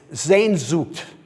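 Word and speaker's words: Sehnsucht: There is, however, a German word which I took great pains to learn and pronounce correctly for you. It's zenzoot. That took me a little longer than you might expect.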